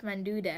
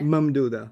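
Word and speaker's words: ممدودة: See, I don't know how to say the Alif Manduda. Mamduda. Mamduda. Mamduda, that's it. Manduda. I said Manduda. Alif Mamduda. Think of it as ma'am and dude.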